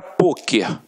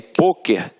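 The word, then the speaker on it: pôquer: Só que aí, poker tem uma pronúncia fechada, e aí leva o acento circunflexo.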